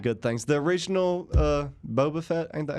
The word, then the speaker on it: Boba Fett: heard nothing but good things the original uh boba fett ain't that how you pronounce his name yeah boba fett yeah he he uh passed away the other